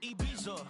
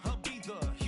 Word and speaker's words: Ibiza: Yeah, it's pronounced Ibiza, actually. Yeah. What's the difference, man? Ibiza, Ibiza, you won't see me in neither.